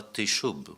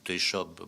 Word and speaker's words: Teshub: Le dieu de l'orage s'appellera Teshub, ou Teshob pour faire moderne.